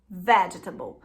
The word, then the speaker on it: vegetable: Agora, vegetal, né, é vegetable, tá?